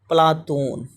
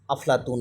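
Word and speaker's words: Πλάτων: और प्लेटो उच्चारण अंग्रेजी के अनुसार है। प्लेटो उच्चारण किसके अनुसार है? अंग्रेजी के अनुसार है। इस शब्द का यूनानी उच्चारण क्या होता है? पलातून पलातून जो है यूनानी है और अरबी में इनको अफलातून भी कहा जाता है।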